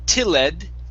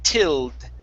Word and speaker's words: tilled: so instead of saying tilled it's tilled with a d sound at the end tilled okay all right